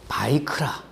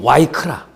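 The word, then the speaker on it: ויקרא: 성경의 그 본래 제목은 바이크라 혹은 뭐 와이크라 이제 그렇게 발음을 하는데이 그거는 그 레위기 1장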